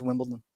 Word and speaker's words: Wimbledon: like Wimbledon yeah like some people say Wimbledon but it's Wimbledon yeah just say it